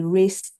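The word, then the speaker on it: RACI: the things we used was something called the race model um it's spelled R A C I um R stands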